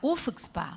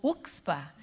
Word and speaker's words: UFCSPA: Bom dia a todos, sejam muito bem-vindos à UFSPA, ou UXPA. A gente pode pronunciar o F ou não, e pode pronunciar o C ou não. Então, eu vou repetir, UFSPA ou UXPA.